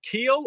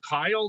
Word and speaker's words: Kiel: Her husband, Rabbi Akiva Posner, was the rabbi of, do you pronounce it Kiel or Kiel, Germany? I think it's Kiel, yeah.